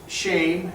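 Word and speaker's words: שֵׁם: Shem, as we discussed earlier, is pronounced shame, and it means name.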